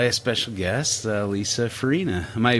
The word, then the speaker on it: Farinha: are joined by a special guest uh lisa farina am i pronouncing your last name correctly yes is that